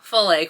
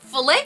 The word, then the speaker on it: filet: And they're just like, "Filt crochet? Is that how you pronounce it?" So, we got in this whole discussion about how do you pronounce it? You actually do pronounce it fillet crochet.